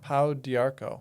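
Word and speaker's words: pau d'arco: And you might help me with the pronunciation of this. Podarchco. Oh, powderco. Say it again. Pow diarco. Pow diarco.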